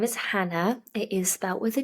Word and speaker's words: Jana: Spanish half English and in Spain A J is pronounced H I think Juan jalapeno